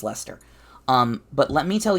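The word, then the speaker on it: Leicester: liser it's spelled leester it's silly English it's pronounced Lester um but let me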